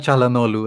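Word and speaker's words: Çalhanoğlu: you guys think hakan chalanolu as i said that's how you say his name properly no g what do you what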